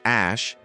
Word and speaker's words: Æ: X the letter A pronounced ash and A12.